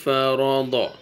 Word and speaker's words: فرض: ہے ضاد فتحہ ضا۔ اب ان 3 لیٹرز کو آپ ایک ساتھ بولیں، ف را ضا۔ فرسٹ ٹائم آپ رک